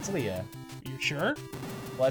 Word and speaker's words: Leia: Is it Leia or Leah? Well, it's Leia.